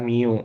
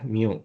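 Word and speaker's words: μ: Eh, Min dibacanya di sini adalah mu ya, mu.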